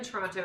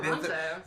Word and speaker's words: Toronto: Smile or die, or smile or we'll die, is I'm in Toronto and pronounce the second T. But somebody else said nobody in Canada pronounces it.